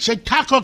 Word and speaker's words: Chautauqua: I said it, Chautauqua County.